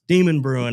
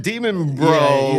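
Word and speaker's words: Demonbreun: I can never pronounce. Yes, Demon Brewing, or I call it Demon Bro, whatever.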